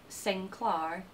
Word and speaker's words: Sinclair: let's get to it the traditional pronunciation of the name Sinclair is said to have been sinclar Clan Sinclair also encompasses